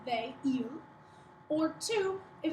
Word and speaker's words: ils: one next you have e and it's pronounced the same as this one e he e i l s we don't say the S the S only gets